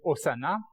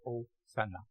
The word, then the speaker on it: Hosanna: est rendu en français Hosanna. En passant, il n'y a pas de Z en grec. Le S se prononce ça. Comment on dit Sili? Je ne sais pas comment on dit, Pierre. Hosanna.